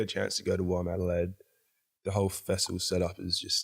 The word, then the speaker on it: WOMADelaide: And then you played at Womadelaide. Am I pronouncing that right?